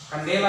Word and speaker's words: candela: Intensitas cahaya itu adalah satuannya, penulisannya candela. Bacanya kandela ya, disingkat dengan lambang CD.